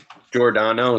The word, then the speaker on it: Giordano: Giordano, it's like Jordan with an O at the end.